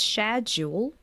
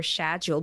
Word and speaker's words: schedule: a lot with so it's schedu versus schu so this is British and American variant either schedu or schedule but this is such